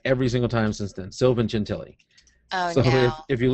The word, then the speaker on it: Sylvan Gentili: Sylvan Gentili.